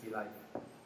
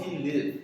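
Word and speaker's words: Tealive: Support Malaysia, tea life. Live. Of course it's tea live.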